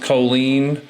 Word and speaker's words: Colline: So this house right here, I called it Colline Road, and the listing agent said it's pronounced Colleen.